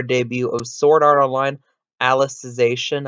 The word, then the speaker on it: Alicization: of sword art online Alice's ation I believe it's how you pronounce it since it's about a character named Alice getting 0.18 not a